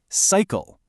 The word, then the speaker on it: cycle: Okay, first word, cycle. Hear that? Cycle. The sigh is strong, right? But the cull is weak. It kind of shrinks down to this soft sound, doesn't it? Cycle.